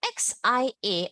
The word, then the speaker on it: xia: So remember XI, how do you pronounce? Is C, right? So you just take that rule. XIA is C, yeah. C, yeah. Xia, xia, xia.